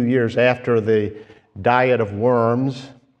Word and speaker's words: Worms: sermon a few years after the diet of worms it's one of the most unfortunate words to describe a diet but uh the Germans pronounce it VMS so the diet of worms the diet of